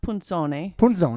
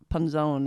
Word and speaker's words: Punzone: it correctly again for me please well it's pronounced punsone correctly but panzone is this is the more common yeah i